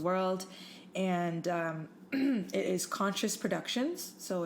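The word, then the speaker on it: Conxcious: all around the world and um it is conscious Productions so it's um do you want me to spell it out yeah cuz it's not a traditional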